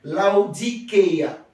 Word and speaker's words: Laodikeia: Laodicée, ça vient du mot grec Laodikeia. Laodikeia qui s'écrit L-A-O-D-I-K-E-A.